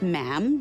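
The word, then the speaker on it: ma'am: majesty and after that is just mam rhymes with jam and it's always a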